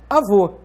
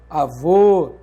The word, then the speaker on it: avô: Então, por exemplo, avó é diferente de avô. Note que esse acento está indicando que a sílaba tônica é vô e está marcando o timbre aberto da vogal O.